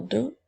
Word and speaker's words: deux: son e qui s'écrit attention la lettre X est une lettre muette je peux utiliser le mot deux dans la phrase il